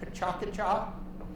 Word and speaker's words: PechaKucha: Some people pronounce it pachakacha. It's supposed to be Japanese word for chatter, and I've had 5 different Japanese native speakers give me 5 different pronunciations for this word. So I'm just going to go with pechakucha. And you'll see this is